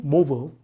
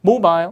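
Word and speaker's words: mobile: 또는 모빌이라고 부릅니다 그래서 미국식이 되면 발음이 모블 강 앞 모블 그 영국식이 되면 모바일 이렇게 아이를 아 발음으로 많이 해 주니까 자대로 한번 들어 볼까요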